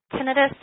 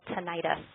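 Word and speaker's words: tinnitus: the ears managing tenus tenus is the pronunciation that you will hear most healthc care providers using a lot of my patients also call it tantis both of those are acceptable pronunciations um we do get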